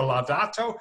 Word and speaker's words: Laudato: Is it Laudato or Laudato?